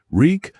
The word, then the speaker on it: Reek: "Reek, I'm Reek. It rhymes with reek."